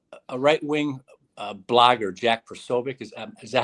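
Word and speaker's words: Posobiec: Without even, uh, uh, a right-wing uh, blogger, Jack Pobic, is is that how you pronounce his name? Uh, Pobiac.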